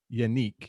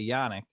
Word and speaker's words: Yannick: they traded for inga his first name is pronounced yanique it looks like yannick but he says it